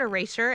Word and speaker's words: erasure: I was trying to pronounce the sure part.